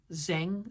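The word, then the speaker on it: Zheng: saying, like I said, I can't say his name right. Um, it's Z H E N G Zang Zang.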